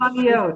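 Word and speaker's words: sufganiyot: It's pronounced Soufganiyot.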